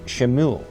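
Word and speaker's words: שמואל: had heard her request the name Samuel in Hebrew is pronounced shimu which means heard of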